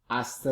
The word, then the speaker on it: hasta: H is silent. Hasta luego.